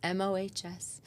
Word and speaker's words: Mohs: It's a Mohs surgeon, it turns out.